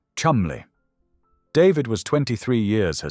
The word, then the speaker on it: Cholmondeley: In 2009, at the age of 25, Rose married David George Philip Cholmondeley, the seventh Marquess of Cholmondeley, pronounced Chumley.